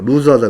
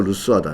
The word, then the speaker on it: 루스하다: 이런 것도 너무 끌면은 또 재미없다 그러니까, 루즈하다 그러니까. 루즈가 아니라 루스죠, 루스하다, 이렇게.